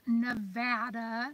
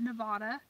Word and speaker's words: Nevada: gun laws for nevada pronounced nevada not nevada do west coasters bob